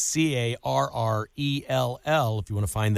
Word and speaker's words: Carrell: It's not spelled like the lady's name. It's Carrell.